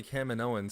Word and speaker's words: Kaminoans: A lot of people, I always say Kaminoans because that's how Obi-Wan said it in the Clone Wars, but I think somewhere else people say Kaminoans.